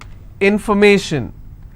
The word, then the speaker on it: information: If I have more number of syllables, information, first I will break it in information. So where do I stress? I will stress on may. Information.